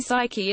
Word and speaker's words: Psyche: also found a way to get to Psyche, pronounced Psyche, much faster by taking a more efficient trajectory.